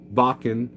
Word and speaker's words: Wacken: Check out footage from the Wacken Festival, Wacken, if you say it correctly, festival.